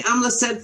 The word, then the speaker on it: Amleset: I can say Amla said fine. That's perfect. Yep. You said it. You said it with the right pronunciation.